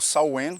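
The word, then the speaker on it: Samhain: Hells Eve dos cristãos o samh ou saen que é a pronúncia cor Eta era uma festa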